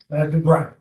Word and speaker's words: Dubry: Dubry. How do you spell that?